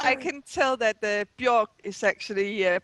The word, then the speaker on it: Björk: well, I can tell that the Björk is actually pronounced Björk, so you have to do it again now.